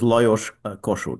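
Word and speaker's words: Lajos Kossuth: a very hard language no kidding so the pronunciation is not not at all how you would expect but his name was Los Kosh right right I've just got it spelled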